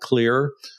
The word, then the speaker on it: Xlear: gosh probably 10 years it's called clear it's got It's spelled X CLE e a r they have